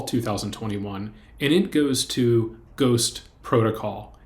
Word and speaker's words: GhostPRTCL: The second Chang Award is for fall 2021, and it goes to Ghost Protocol. It's spelled Ghost, PRTCL. But Ghost Protocol is an important tool